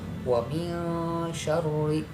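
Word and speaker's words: وَمِن شَرِّ: Uraiannya kita lihat, nun mati atau sukun bertemu dengan huruf sya. Nah, ya, setiap nun mati apabila bertemu dengan huruf sya, nah maka itu cara membacanya dibaca samar-samar antara jelas dan dengung ya. Antara jelas dan dengung yaitu bacaannya samar-samar. Nah, itu adalah cara membaca ikhfa ya.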